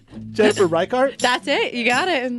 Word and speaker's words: Reichardt: I'm going to totally mispronounce Jennifer's last name. Jennifer Reichardt.